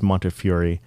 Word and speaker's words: Montefiore: His last name is hard to pronounce, but I think it's Montefiore.